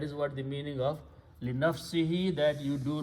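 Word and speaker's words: لِنَفْسِهِ: Again, we pronounce this he. So li nafsihi means to his own self.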